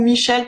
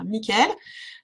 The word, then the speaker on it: Michael: bleue en général c'est l'archange michael ou michel parce que les deux prononciation se font à la française ou à l'anglo-saxonne donc ça c'est là la flamme bleue 1 couleur bleu c'est l'archange michael donc qui apporte puissance